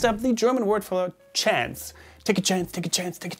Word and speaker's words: Chance: german correct then well you have to say it more closely to the french pronunciation closer to the french presentation which would be chance hm not the shanks